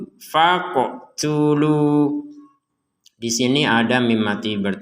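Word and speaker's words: فاقتلوا: Di sini, 'qof' dengan tanda sukun dibaca dengan bunyi "melompat", "faqo", " faqo". Jadi, bukan hanya "fak", "fak", "fak" menggunakan huruf 'qaf', misalnya, "f a q", "fak" tanpa getaran.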